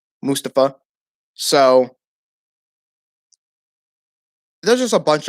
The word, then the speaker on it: Mustafa: to mustafa or mustafa sorry mustafa ali that's how you say his name pronounce it mustafa so there's just a